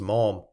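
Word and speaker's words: Malham: end and came to malum pronounced mam a village in the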